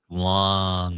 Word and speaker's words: Loong: I don't know if it's long or lung OS, but long OS. Ooh. Yeah, you got to say it like you have to say where it's long.